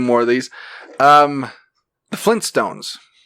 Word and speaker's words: Flintstones: of these um the flintstones is it flynn stones or flint stones flint flintstone meet the flintstones flint it's got to be flint it's flint okay speaking of speaking